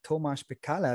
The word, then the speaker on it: Tomasz Pekala: Heute habe ich Thomas Bekaller da. Hallo Thomas. Hallo. Habe ich den Namen richtig ausgesprochen?